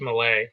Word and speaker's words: Millet: last name is uh spelled Millet but pronounced Malay he um when as